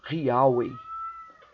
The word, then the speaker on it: Yahweh: Yahvé, e eles identificavam a pronúncia correta do nome de Deus como Yahweh.